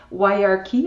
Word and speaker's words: Wirearchy: Quand on m'a suggéré l'entrevue, j'étais vraiment contente de découvrir votre livre, Wyarchy. Est-ce que je le prononce correctement? Oui, OK. Wirearchy, OK.